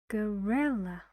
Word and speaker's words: gorilla: gorilla only one sound gorilla these two Sounds here need to be very short very fast and your tone is relaxed say gorilla and the stress is on re how many syllables three